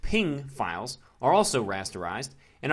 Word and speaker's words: PNG: guessed jpegs are rasterized PNG pronounced ping files are also rasterized